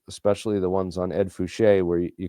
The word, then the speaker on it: Fouché: of these videos, especially the ones on Ed Fouché, where you call him Edgar Fouch and get his name wrong.